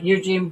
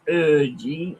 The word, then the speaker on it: Eugen: And Eugene Bop, don't want to sound a twat, but it's pronounced Urgine.